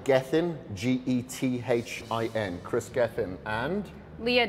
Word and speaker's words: Kris Gethin: find you on social socials so my name is spelt Chris kr is last name Gethin GE th en Chris Geffen and Leah Dolan so le aah and then